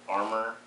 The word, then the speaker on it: Arrma: my Arrma, or as their site says, this pronounce it Arrma Kraton, and I just got done doing a